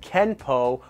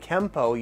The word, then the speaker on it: Kempo: Technically, it's still pronounced Kenpo with either spelling, but you will hear Kenpo and Kempo used interchangeably as well.